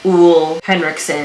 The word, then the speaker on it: Ole Henriksen: developed a real deep love affair with the w henriksson skincare line from Sephora I Googled it and you pronounce it oo Hendrickson I with o heavy he has completely changed